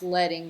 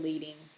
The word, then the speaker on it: leading: And it's pronounced leading, not leading in the design world.